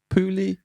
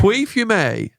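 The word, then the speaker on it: Pouilly-Fumé: Pouli? You know to not say the L's, man. Puy? Think of the jigsaw. Yeah. Puy fume.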